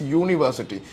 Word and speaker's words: university: We pronounce it as university. ഇത് കാരണം it sounds like it's starting with a Y, with a consonant, and this is why you cannot use an university പറയാൻ പറ്റില്ല.